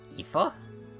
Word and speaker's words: Aoife: My name's Aoife. I hope we learn a lot from each other. That's how you pronounce that? Aoife?